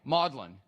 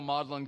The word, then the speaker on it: Magdalene: to take a guess how you pronounce the one in Cambridge you got it's down at the very bottom all right it's the same way modelin even though it's spelled differently it's still modelin College in Cambridge I